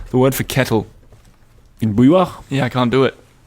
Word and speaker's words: bouilloire: It has an R, a UI, a double L. And she says the UI plus double L is so hard for Anglophones to pronounce. She can't even spell it, she says. And what's with the E at the end?